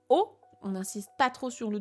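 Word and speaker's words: を: particule de COD donc qui s'écrit W qui se prononce en général plutôt o oniniste pas trop sur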